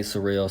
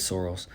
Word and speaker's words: Sorrells: So, some people say surreals, some say soros. Proper way to say it is soros, but I understand people say surreals.